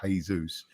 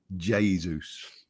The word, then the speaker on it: Jesus: Because we're used to the Spanish sort of Jesus. Jesus. He pronounced it Jesus.